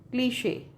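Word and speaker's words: cliché: example बताती हूं मान लो हमने लिखा यह स्पेलिंग है क्लिश है ना तो इसका फनेटिक ट्रांसक्रिप्शन क्या है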